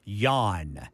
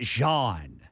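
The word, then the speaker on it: Jahn: It is Jan. Jan. His last name is Jan. Okay. All right. I've been calling it Jean, but you J put a little is silent.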